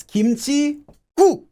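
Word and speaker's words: 김칫국: Anytime this happens, the first syllable of the second word becomes double. So it's not 김치국, it's 김치국, 김치국. Again, the first letter of the second word becomes a double consonant, if it can.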